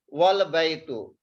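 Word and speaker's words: والبيت: We will not pronounce here Hamza. We will pronounce wow with the lam.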